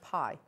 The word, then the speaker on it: bi: on the pi symbol it's actually spelt b-i yeah but it's pronounced pie oh and it can